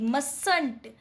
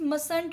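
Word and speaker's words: mustn't: आपका होता है बट वो मतलब दिख रहा है बट वो साइलेंट है। ठीक है, तो आप इसको रीड करते हैं MUSNT, मसंट। ठीक है, क्या रीड करेंगे फ्रेंड्स, मसंट रीड करेंगे।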